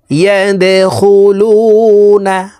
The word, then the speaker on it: يدخلون: ওয়ারাআইতান নাস ইয়াদখুলুনা, এই দাল কলকলার হরফ নিচের দিকে ধাবিত করে ধাক্কা দিয়ে উচ্চারণ করতে হবে।